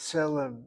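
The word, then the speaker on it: צלם: The Tzadi letter is a TS sound, not a T, not TZ, not TZ at all.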